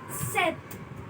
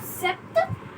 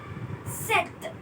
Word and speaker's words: sept: Then we have set. It's not sept, it's set. We don't pronounce the P.